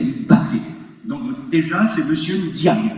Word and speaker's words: Mbappé: C'est pas Mbappé, c'est Mbappé.